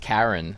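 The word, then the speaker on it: Charon: mythology and um actually his name is pronounced Karen like the woman's name yeah I hate saying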